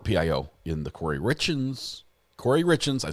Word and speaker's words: Corey Richens: Corey Richens.